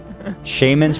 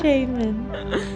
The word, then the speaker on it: shaman: I think you can pronounce it that way. Yeah, shaman. I'm one of the first ones to always call out Ethan's weird pronunciation, but I think that's a valid That's the way correct to say pronunciation. Nah. Most people say shaman, but that's Shaman.